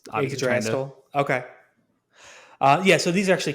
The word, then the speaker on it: Yggdrasil: I think that's how you pronounce the world tree, Yggdrasil. Yeah. Oh, yeah, and it's obviously Yggdrasil.